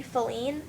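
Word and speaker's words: Faline: can pronounce it but her first name is gonna be feline like the little you know if you've ever seen Bambi the little girl a deer and Bambi Bambi's girlfriend her name is feline and like some people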